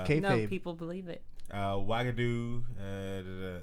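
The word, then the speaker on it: Uagadou: to her very good of her yeah Jesus wagadu that's how you pronounce it where are they good at the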